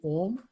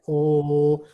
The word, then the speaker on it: Om: Humming with open mouth, we'll try to chant Om. Stress the first part of Om, and the Ma will, when we close the lips, it will become Ma.